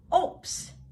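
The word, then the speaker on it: Obst: Does oops Thus, oops. Take note, the B in the word is pronounced as P.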